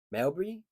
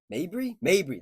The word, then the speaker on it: Mabry: Melbury, Mabry.